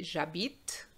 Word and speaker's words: j'habite: So you have learned that the H is silent. Okay, so you say j'habite la Thaïlande, which is Thailand, le T, which is tea, the tea you drink.